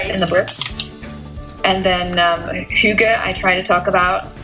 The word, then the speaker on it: Hygge: And I think that's really how do you pronounce it? Hygge?